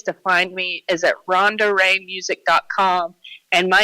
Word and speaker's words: Ronda: no h in Ronda I'm named after my dad my dad was Ron and I'm Ron duh that's my little joke uh all my social